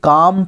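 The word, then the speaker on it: calm: ছেলেটি বলছে what a কাম face কি শান্ত মুখ সি এ এল এম এটার উচ্চারণ হবে হচ্ছে কাম কাম মানে শান্ত বলছে তোমার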